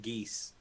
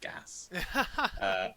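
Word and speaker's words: geas: that's pretty much what that does I've been pronouncing it geese for many many years and I just googled it now it is pronounced gasps like for the whole 20 years I'll be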